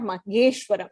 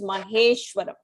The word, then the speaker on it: महेश्वरम्: It is not mageshwaram, it is maheshwaram.